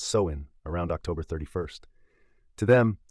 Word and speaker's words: Samhain: Over 2,000 years ago, the Celts, who lived in what's now Ireland, the UK, and Northern France, celebrated Sam Hayne, pronounced Soen, around October 31st.